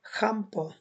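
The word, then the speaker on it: schampo: তো সুইডিশে উচ্চারণ করা হয় খাম্প, খকার খা যেটা ওইটা খাম্প, খাম্প।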